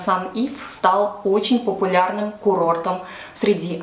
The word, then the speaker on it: St Ives: Сегодня в продолжении рассказа о нашем с мамой большом путешествии в графство Корнуолл я расскажу про полуостров Сент-Эйвс. Так он звучит по-русски, но я буду произносить по-английски Сан-Ив.